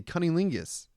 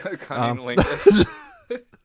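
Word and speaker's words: cunnilingus: cancer to all the cunning lingis I I don't even say it right let alone perform it C Lingus right that's how you say it yeah that's it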